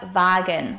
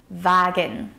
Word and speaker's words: Wagen: And der Wagen, which means the wagon. And here the W is pronounced like a V sound. Wagen.